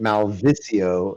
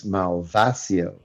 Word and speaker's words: Malvasio: because you keep pronouncing it Malvisio, and I wanted everyone to know it's Malvasio.